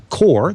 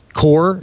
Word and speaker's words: QOR: It's connected to this thing that we call the Core, that's spelled QOR because it's cute, Core 16 or the Core 32.